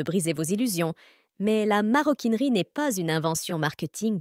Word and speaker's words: maroquinerie: signifie cuir de Maroc cela prouve qu'on ne doit pas y doubler le r comme en effet on ne le double pas dans la prononciation le maroquinier l'artisan qui